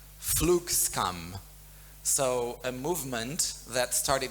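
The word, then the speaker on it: flygskam: And at the same time, I think I'm going to pronounce it right, Flugskam.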